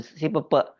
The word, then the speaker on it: SIP3P: artinya berbeda ini sebenarnya membacanya Kalau di Cirebon bukan sipp tapi Pepe itu si Pepe itu dalam artian itu